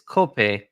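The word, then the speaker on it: kope: coffee growing uh conditions the low lone word for coffee in Hawaii uh language is copay pronounced cope so um the coffee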